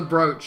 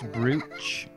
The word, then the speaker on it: brooch: a good few times she's got a Bowser Broach on but you can't see it properly it's pronounced brooch Brooke a I think you'll find we're okay